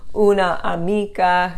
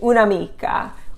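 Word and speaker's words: un'amica: words it flows better instead of saying una amica you say unamika una idea unidea okay it's for flow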